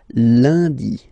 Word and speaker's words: lundi: Okay, remember, UN is pronounced like un, lundi, lundi, lundi.